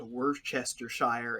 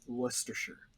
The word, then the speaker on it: Worcestershire: the gunnel because like there's a place in the uk called worchestershire and they call it worcestershire like um i don't [